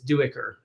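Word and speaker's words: Duiker: helpful um and also i'm pretty sure that's how erickson and esselmont pronounce it is duecker okay yeah that and that's how i was pronouncing it so that's good but uh yeah i i only said diker because on the audiobook he said the guy says dyker and i i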